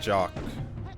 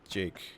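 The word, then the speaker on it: Jacques: Because, there's this author whose name is Brian Jock. Or Brian Jocks, is it? Fuck, I haven't said his name in forever. But it's spelled like that. But it says, he says to pronounce it like Jake.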